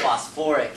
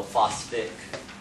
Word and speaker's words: phosphoric: In the case of this phosphate to phosphoric, it adds in another syllable whenever you get to the ick. So you don't go phosphic acid, phosphoric acid.